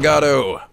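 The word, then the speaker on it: Godot: Where's the T come from? I just add in there a silent T just to fuck with people.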